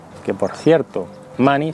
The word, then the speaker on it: Munny: William Munny, que por cierto, Munny, su apellido, se pronuncia igual que dinero en inglés, money, es un hombre con un pasado violento.